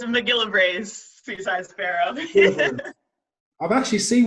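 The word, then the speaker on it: MacGillivray's: How do you pronounce that? It's Mcgillivray's Seaside Sparrow.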